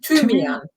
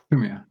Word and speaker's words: Thymian: Thymian. Thymian.